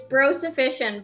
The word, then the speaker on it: Bro Sufficient: don't say it wrong it's bro sufficient but most people just call me bro fish bro sufficient ok all